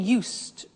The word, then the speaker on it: used: I said used with a T sound. Used, not used or used. Used. That's very important to distinguish it from the other verb, use.